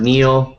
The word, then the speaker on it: kneel: spelling that very well in the word Neil the the letter K is silent so uh it's a